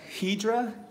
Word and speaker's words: Hydra: Josh Morales Josh represents Hedra or Hydra is spelled Hydra I think they say it Hedra because you know I guess they want to be fancy anyways you know I